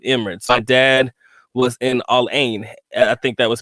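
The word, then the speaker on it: Al Ain: my dad was in allain I think that was spelled a l- a i n Alain is how they pronounce it but Alain whatever and me and my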